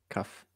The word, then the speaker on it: kaf: Kath with a ph Kath. Sound. Yeah. Or f sound at the end. Kaf.